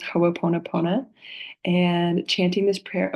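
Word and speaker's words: Hoʻoponopono: this is the Hawaiian teaching of forgiveness it's pronounced hoona pona and and chanting this prayer over and over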